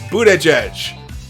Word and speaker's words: Buttigieg: Bernie and Pete Buttigieg, it's Buttigieg. I keep saying it wrong. It's Buttigieg, like edge twice.